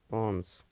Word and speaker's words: পন্স: তারপর পনস পন্স পন্স এটা উচ্চারণ হবে পন্স।